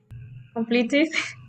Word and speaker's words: completed: So in past tense, what is the pronunciation? Completed. Complete. Complete. Completed. Completed. Why? Because the verb in the original form, the last sound is with T.